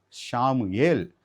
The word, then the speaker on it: ஷாமுவேல்: இனி நாம் Israel, ஷாமுவேல், Emmanuel அப்படின்ட்டு அழைக்கணும். ஏனென்றால் இப்போ நம்ம எல்லாமே பார்த்துட்டோம். சாமுவேல் என்னும்பொழுது என்ன அர்த்தம்?